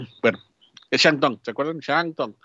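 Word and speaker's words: Shandong: Shantung. Se escribe con D, pero se pronuncia como T. Shantung.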